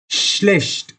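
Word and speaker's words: schlecht: श्लेष्ट, फिर से देख सकते हैं एस सी एच, श, श्लेष्ट। इधर सी एच आया, उसको भी श की तरह प्रोनाउंस करते हैं, श्लेष्ट। यानी not mostly but sometimes C एच is also pronounced as श, तो ये सम एक्सेप्शंस में आता है।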